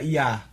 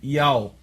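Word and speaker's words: Yah: Sem falar que o nome do Eterno não se pronuncia Iá. Uhum. É Ial.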